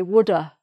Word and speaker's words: would have: Some people don't pronounce the V in would have, they just say woulda, I woulda.